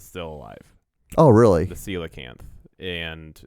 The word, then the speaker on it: coelacanth: just found is still alive oh really the coelacanth and it's it's spelled c o e l e c o